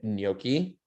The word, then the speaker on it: gnocchi: into something like french fries or um a gnocchi i don't even know if i'm pronouncing that right there's a lot of silent